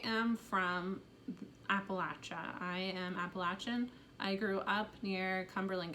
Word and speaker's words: Appalachia: from appalachia i am appalachian i grew up near cumberland gap um it's pronounced appalachia not appalachia you should pronounce out of respect you should pronounce the word how the actual people pronounce it latcha appalachia um anyway